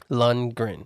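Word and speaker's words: Lundgren: it's I'm not doing it on purpose lungren lungren there you go this is worse than cricked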